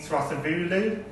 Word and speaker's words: Thrasivoulou: We're joined today by Jamie Thrasivoulou, and we've just checked, and that is how you say it.